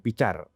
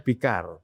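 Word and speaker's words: Fickar: Kemudian yang di tengah ini Bang Abdul Fikar, ini Fikarnya pakai C ya, bukan pakai K ya. Jadi kalau orang baca itu bukan Fikar nih, Picar. Tapi ini dibacanya Fikar.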